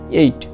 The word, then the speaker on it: eight: দেখো EIGHT উচ্চারণ হবে কি 8 অর্থ।